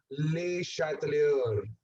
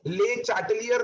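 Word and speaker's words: Le Chatelier: कोई भी गलती से भी इनको ले चैटलियर नहीं बोलना, that is नॉट the pronunciation. ले चैटले नहीं बोलना, वो भी प्रोनाउंसिएशन नहीं है। ही इज a French scientist. तो कोई भी बच्चा अगर फ्रेंच सीख रहा है तो उसको ध्यान में होगा his name is pronounced as ले शैटलियर।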